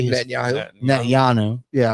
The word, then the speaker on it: Netanyahu: Netanyahu. Yeah, I always want to say the TH, but the boy who cried wolf is a thing.